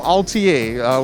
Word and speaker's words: Altiat: Now we're at the booth for Altiat, which is the T is silent.